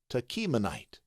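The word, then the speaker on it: Tachmonite: let's take a look it te as in kite Tonite Tonite Tonite now when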